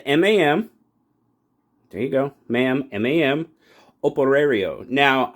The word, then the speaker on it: Operario: MAM Operario. Now, I know I'm not pronouncing that correctly because I don't roll my R's. You know, it's out of Portuguese. So, from what I understand, Operario means worker in Spanish, Portuguese.